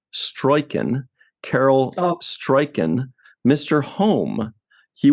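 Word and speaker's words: Struycken: One other person I wanted to point out is, I believe his last name is pronounced Stroiken, Carol Stroiken, Mr.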